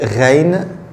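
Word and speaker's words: غين: La lettre suivante, c'est reine. Reine, comme le R français.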